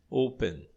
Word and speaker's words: open: Porque a tônica está na primeira sílaba.